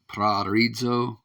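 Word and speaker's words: προορίζω: Let's let him pronounce it. Strong's G 4309. Praorizo.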